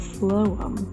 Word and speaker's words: phloem: Then after the tree leaves out, the sapsucker begins making shallower, more rectangular wells in the phloem. That's how you pronounce it.